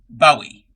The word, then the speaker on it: Bowie: Bowie. Like David Bowie.